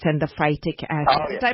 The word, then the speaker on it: phytic: Tell me about that phytates and the phytic acid. Did I pronounce that correctly?